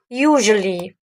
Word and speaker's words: usually: Ne prononce jamais le T. D'accord? On a troisièmement le mot usually.